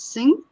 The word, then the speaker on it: Singh: Is it Singh?